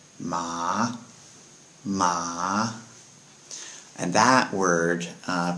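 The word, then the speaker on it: 麻: little dictionary list uh is pronounced with a rising tone so with ma it's said ma ma and that word uh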